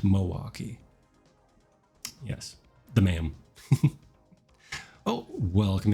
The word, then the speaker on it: Milwaukee: Yeah, go look up Milwaukee Art Museum. And I pronounce it the Wisconsin way, but it is Milwaukee Art Museum, not Milwaukee.